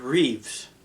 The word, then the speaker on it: Reeve: Or is it Reeves? Christopher Reeves.